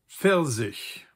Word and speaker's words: Pfirsich: Der Pfirsich, peach.